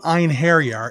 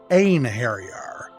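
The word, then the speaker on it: Einherjar: side my Noble en Harrier now the original pronunciation was off as well it's not Ein harier it's a harar so if they were going to fix up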